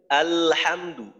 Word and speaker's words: আলহামদু: চালু রাখতেছি, খেয়াল করেন আলহামদু, আলহামদু, লামের মাখরাজে যাওয়ার পর কিন্তু আমি আওয়াজটাকে বন্ধ করে দেই না। আলহামদু, লামের আওয়াজ চালু থাকতে থাকতেই হা এর উচ্চারণ করি, আলহামদু, আলহামদু।